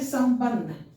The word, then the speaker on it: संबंध: जैसे संबंध, संबंध। अब यहाँ देखिए अनुस्वार का उच्चारण क्या कर रहे हैं? सम, है ना? स के बाद म बोल रहे हैं।